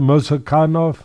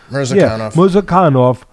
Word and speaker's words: Murzakanov: And the undefeated, explosive how do you pronounce it? Murzakanov. Murzakanov.